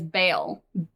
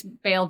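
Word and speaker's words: Bael: So, uh the most notable archdevil on Minauros other than uh Mammon is Baal.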